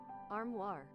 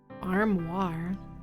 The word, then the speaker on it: armoire: How do you pronounce it though? Armoire. Armoire.